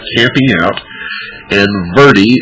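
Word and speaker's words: verde: like camping out and verie is spelled v as in victor e r d e it's Spanish and it means means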